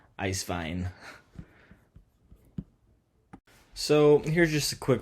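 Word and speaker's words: Eiswein: midterm wine presentation on ice wine um or pronounced in germany is ice vine so here's just a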